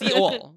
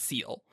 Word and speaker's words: Seol: No, it's Seol. Seol. Just say it like that and not seal.